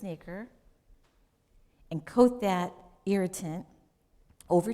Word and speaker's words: nacre: It's spelled Nacre. And if you're a teacher or something, you may know this. I did not. But it's pronounced nacre.